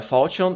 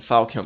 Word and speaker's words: falchion: You can go with either a Falchion if you don't care for spell combat. Yes, that's apparently the correct way of pronouncing it. I know I was saying Falcon before.